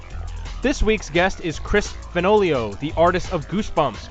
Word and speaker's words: Fenoglio: Instagram as at Chris fenoli Oh fun fact he told me the easy way to wrote and remember how to pronounce his last name is that it rhymes with cornholio in kickstarter news past